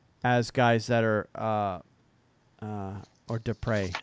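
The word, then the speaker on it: Després: was Silverberg gagliano and des prés isn't that something as guys that are or Despres I guess is the proper way to say his name as guys that are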